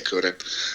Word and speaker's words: Kunin: It's obviously Kunin.